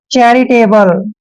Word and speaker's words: charitable: LE का उच्चारण ले करते हैं। चैरिटेबल, चैरिटेबल होता है दोस्तों दयालु, कृपालु।